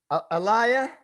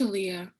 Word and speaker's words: Aaliyah: Alaya, Here. did I say it correctly? It's Aaliyah. Okay, I gotta phonetically mark it.